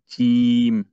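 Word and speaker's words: جيم: এরপরে জিম। হ্যাঁ, একটু শক্ত করে, আরেকটু শক্ত। জিম।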